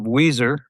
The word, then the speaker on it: Weiser: And it is not spelt like the band Weezer, which happens to be one of my favorite bands. It's spelt a bit differently than that.